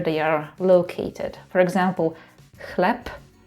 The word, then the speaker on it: chleb: For example "chleb" because "b" is at the end of the word we say [p].